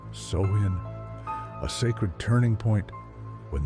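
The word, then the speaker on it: Samhain: To the Kelts, it was the night of Samhine, pronounced soin.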